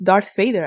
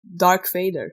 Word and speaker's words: Darth Vader: Yeah, and Darth sounds kind of similar to dark, so a lot of people actually mistakenly say Dark Vader.